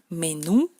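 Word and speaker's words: меню: Es como en español, menú, pero hay que hacerla más fina, menú, como en francés, menú.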